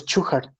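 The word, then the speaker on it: Shewhart: gráfico fue inventado por el doctor chuhard así se así se pronuncia el apellido del creador de esta gráficas el doctor shuja basado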